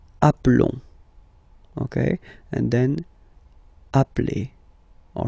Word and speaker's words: appelons: Nous nous appelons. Okay, final S doesn't exist.